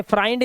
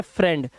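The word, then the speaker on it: friend: वो आई नहीं है इसे फ्राइंड नहीं पढ़ते हैं इसे पढ़ते हैं फ्रेंड तो यहां पर आपको नोट करने वाली बात है कि इस वर्ड के अंदर आई ई का जो उच्चारण होता है वो ए होता है ठीक है चलो अब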